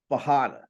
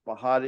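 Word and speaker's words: Bajada: The J is yeah. pronounced as an H in Portuguese Yeah.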